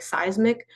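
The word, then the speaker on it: CEISMC: And so like you said, we reached out to Georgia Tech Seismic, which is spelled C E I S N C.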